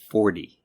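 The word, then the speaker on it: forty: The difference is that numbers in the teens are pronounced with a T sound, but multiples of 10 are pronounced with almost a D sound. So it's 14 and 40.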